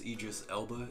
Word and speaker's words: Idris Elba: always use is i don't know like idris idris elba that is how you say his name him